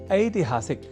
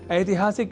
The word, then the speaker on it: ऐतिहासिक: तो इसी श्रृंखला में आज इस अक्षर से जुड़े शब्दों के शुद्ध उच्चारण के उद्देश्य के साथ कुछ वाक्यों का कर लेते हैं अभ्यास। एक शब्द है ऐतिहासिक, जिसे हम अनवधानतावश या प्रादेशिकता के कारण ऐतिहासिक लिख और बोल जाया करते हैं।